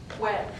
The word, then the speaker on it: fuera: But sometimes you'll hear in the Andean region a bilabial pronunciation, where your two lips touch like but. So fuera, outside, could be pronounced kind of like fuera, fuera, fuera, fuera.